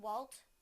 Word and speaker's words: Walt: will use them both in a sentence Did Walt put it in the vault did Walt put